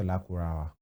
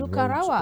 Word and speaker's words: Lakurawa: these guys are here, he pronounced Lakurawa. Yeah, but I've seen many persons. Lukarawa, I've seen Lukarawa. And they will be sounding like Lukaku.